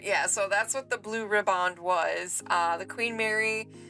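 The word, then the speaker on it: Blue Riband: voyage on May 27th 1936 and won the Blue ribbond um Steve said that's how you pronounce it that August the blue ribbond was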